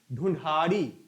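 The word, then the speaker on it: ढूंढाड़ी: तो जयपुरी बोली का स्थानीय नाम है, थोड़ा उच्चारण देख लीजिएगा, इसका स्थानीय नाम है विकल्प सी, ढूढ़ाड़ी।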